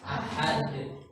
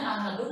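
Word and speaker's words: أحد: Contohnya di sini ada kalimat walam yakun lahu kufuwan ahad. Dibacanya ahadun atau ahad? Ahad. Kenapa dibaca ahad? Karena wakaf ya, karena berhenti.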